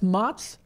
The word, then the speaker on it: Mott's: That's Mott's Lounge. Mott's Lounge. I'm sorry, I keep pronouncing it like with an S-H, like Mott's Lounge. So they have a whole